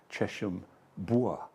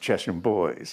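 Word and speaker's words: Chesham Bois: in an Uber here we went through chesham bua oh pronounced chesham boys you see see how chesham bua as opposed to Northwood Hills yes yes well it has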